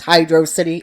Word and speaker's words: Hydrocity: And yes, it's Hydrocity. I do not pronounce it as the other word.